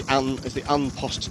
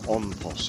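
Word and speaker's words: An Post: It's the Unpost team, or OnPost it should be pronounced, I think.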